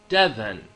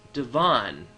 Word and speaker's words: Devin: This right here is how I pronounce my name. Devin. Heavier emphasis on the first syllable. When I was in grade school, though, I often got teachers who didn't know me who would think that my name was actually pronounced Devon. Very different sound for my name.